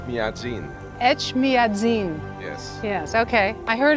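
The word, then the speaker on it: Etchmiadzin: say the name of the cathedral H madin H madzin yes yes okay I heard it was almost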